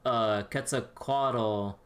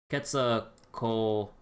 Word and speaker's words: Quetzalcoatl: So when you go to the ko part, like the C is the K sound, and then you just kind of pronounce like the O, ah sounds, essentially individually but in sequence. So Quetzalcoatl.